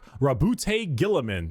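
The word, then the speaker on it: Roboute Guilliman: Primark Rabboute Gillamin. That's how Yeah, that's how it's said.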